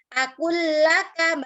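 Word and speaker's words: أَكُلُّ لَكَ: Akullaka, bacanya seperti itu. Akullaka, sebenarnya di sini ada tasdidnya. Kemudian idzahaba, ya.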